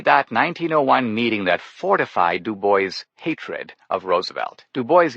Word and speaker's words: Du Bois: Since most people pronounced his name Du Bois, he insisted they should say Du Bois.